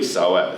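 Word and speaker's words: psoas: a problem and particularly soas so we're going to look at how to stretch that muscle what so with a silent P just to make it interesting for you p s o s yeah what's that it's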